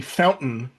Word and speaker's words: fountain: the word fountain where a lot of uh English speakers they do not say fountain with the t sound. They say fountain and they kind of skip over the t.